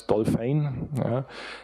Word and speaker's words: DOLFYN: the program called dolphin so you pronounce it in netherlands dolphin anyway so this is